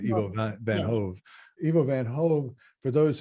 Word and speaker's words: Ivo van Hove: And I want to make sure I pronounce this correctly. Ivo van Hove, is that right? Ivo van Hove.